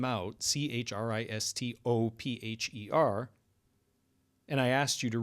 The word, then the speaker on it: Christopher: But do you notice that when you say Christopher, you don't really fully pronounce the O?